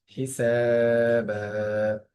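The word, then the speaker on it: حسابا: হিসাবা, সিনের একালিফ বা একালিফ, সেম নিয়ম রিপিট হলো।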